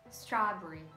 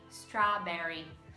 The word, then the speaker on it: strawberry: E o E ele não é muito pronunciado na palavra strawberry, strawberry. Enquanto no americano, strawberry, strawberry.